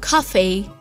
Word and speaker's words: coffee: drink a cup of coffee, I love this pronunciation, coffee, then you'll get lots of energy. Yeah, but add the E sound there after cough or it's... Cough E. Yeah.